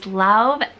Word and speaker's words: Lauv: His name is Lauv. I believe that's how you pronounce it, L-A-U-V.